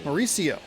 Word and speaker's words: Mauricio: the third inning now here is Mauricio dubon Mauricio that is how you pronounce his name I